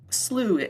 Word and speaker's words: slough: but not deep enough slooh um it's spelled Slough but like a lot of English language it's messed um so we' go